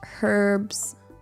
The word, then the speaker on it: herbs: Um, how do you pronounce do you pronounce herbs with the H in British English? The H in herbs is typically pronounced Okay, so it's not a me thing.